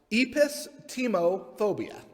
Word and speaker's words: epistemophobia: always an easy part to guess it is pronounced epistemophobia it is the fear of knowledge you might